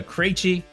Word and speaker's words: Krejci: Guys, I hope you enjoyed this session with Martha Krejci, pronounced like crazy because she's a crazy woman, but she gets stuff done.